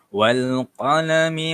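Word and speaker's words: وَالْقَلَمِ: Bacaan dia ialah wal. Wal. Okay. Bacaan dia macam tu. Wal. Okay. Wal qalami.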